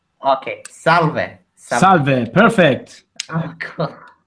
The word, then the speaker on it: salve: So you kind of say the first part of the word a little bit louder.